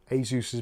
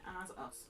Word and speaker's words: Asus: Well, it's cuz it's Well, they made the company and they they said that it's pronounced Asus as in a and then the god Zeus.